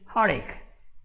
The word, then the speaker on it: heartache: Now, speaking of pronunciation, okay, you see, I don't say the T, I don't say heartache, I say heartache, heartache, and that's the pronunciation, heartache, all right?